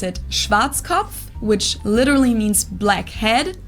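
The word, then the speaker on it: Schwarzkopf: over the world pretty much in German we pronounce it shatov which literally means black head Schwartz English native speakers usually pronounce it Schwarz cop or Schwarz cof or something along those lines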